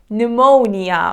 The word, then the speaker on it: pneumonia: mortgage on my house the next word is pneumonia but again the letter PE is silent it is an infection of lungs and